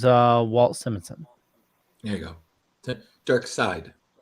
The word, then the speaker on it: Darkseid: Dark Side. Yeah, side.